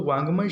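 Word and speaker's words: वाङ्मय: तो वांग्मय शब्द देखिए, वांग्मय कैसा है, ग कहीं दिखाई नहीं देता लेकिन उच्चारण है जो ड को ऐसा एक किया हुआ है।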